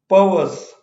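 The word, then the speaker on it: perverse: ठीक है, पर्वर्स, इसमें जो पहला आर है वो साइलेंट रहेगा.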